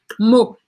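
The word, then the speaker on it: maux: Olha como escreve mot, M-A-U-X, mot.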